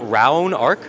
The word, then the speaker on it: Raonark: that's a pretty cool name so am I pronouncing this right is it R Arc yes can you tell us a little about